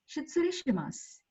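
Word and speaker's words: 失礼します: Next, the last word is shitsure shimasu. Shitsure shimasu. U is silent.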